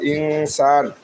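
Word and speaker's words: إنسان: আমি মানুষ সৃষ্টি করছি খবর খলাম খলাব খলাক ইনসান হামজা গিয়ে নুনকে ধরবে এরপরে সিন থাকার কারণে আমরা এই নুনকে একফা করে উচ্চারণ করব ইনসান সাই খালি আলিফ ড জবর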